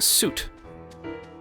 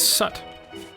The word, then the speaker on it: soot: You pronounce soot like suit. Sometimes. Suit? Suit. Sut? Suit. How about red and red and red and red? Well, one of those read, but suit is sut.